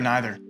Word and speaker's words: neither: Did you say neither or neither? I'm from Iowa. Either. Neither? No, you could say, you pronounce it either way.